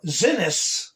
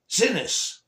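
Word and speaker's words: Xinis: Her name is uh Zenis with a X. Okay. X I N I S. Zenis.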